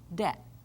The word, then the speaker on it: debt: is silent as in debt you don't hear the little B sound in there so again it depends